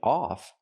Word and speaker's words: of: We have to pronounce it of. Of of a short closed sound of tip of the tip of the iceberg.